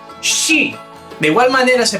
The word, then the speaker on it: ski: palabra se pronunciaría sh la combinación sk también se pronuncia como una sh por ejemplo que hay más típico de Noruega que el Ski Pues bien en noruego no se pronuncia Ski se pronuncia shi de